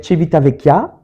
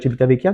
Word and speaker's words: Civitavecchia: Je le prononce comme faux? Moi, je dirais Civitavecchia, mais en même temps, je suis pas italien, hein, je parle pas bien l'italien, Voilà.